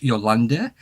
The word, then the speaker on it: Jolanda: comes from Holland, and her name is Jolanda is what they call her, but you would pronounce it in Dutch, Jolanda.